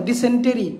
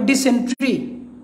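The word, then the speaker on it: dysentery: টির কিন্তু টি আর ওয়াই টি হওয়ার কথা ডিসেন্ট্রি কিন্তু উচ্চারণটা হবে ডিসেন্ট্রি ডিসেন্ট্রি উচ্চারণ ডিওয়াই এন টি আর ওয়াইটি আর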